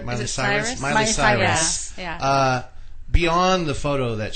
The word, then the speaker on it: Miley Cyrus: Miley Cyrus.